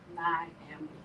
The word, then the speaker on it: Nyambe: It is literally phonetically spelled my name, Nyambe. is my middle name too, but yeah, but that's phonetically spelled.